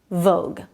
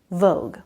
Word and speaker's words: vogue: out how to say vogue. But I can see how the U and E at the end makes this pronunciation a little confusing. Vague and vogue.